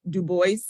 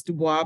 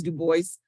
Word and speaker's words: Du Bois: And again, the name is, he pronounced it Du Bois. Some would say French, of course, Du Bois, but it's Du Bois for his pronunciation.